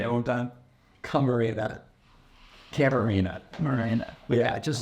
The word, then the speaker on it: Camarena: Carbonara. Carbonara. Say it one time. Camarena. Yeah, just spell it out.